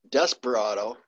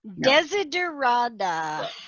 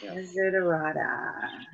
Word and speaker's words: Desiderata: Desperado. Nope. Desiderata. Desiderata.